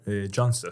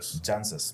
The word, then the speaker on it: Jancsics: today is none other than the Stoneman janx I say that right Janis Janis my apologies the se's and the name are